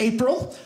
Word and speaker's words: Apprille: My last name is pronounced April.